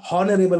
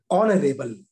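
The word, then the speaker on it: honourable: अगर मैं इसको पढ़ूं तो ये लिखा है हॉनरेबल, कुछ लोग पढ़ते हैं हॉनरेबल। अगर सिस्टमेटिक जाए तो यच का उच्चारण करें तो हॉनरेबल कहेंगे, लेकिन नहीं, इसका सही प्रोनाउंसिएशन क्या है, ऑनरेबल, ऑनरेबल। मेरा उच्चारण आपको समझ में आ रहा होगा, अगर आवाज सही आ रही होगी तो ऑनरेबल है ये, न कि हॉनरेबल।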